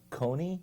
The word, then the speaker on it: Coyne: Jerry, I think it's Coyne, C-O-Y-N-E. Coyne. I think they pronounce it Coyne.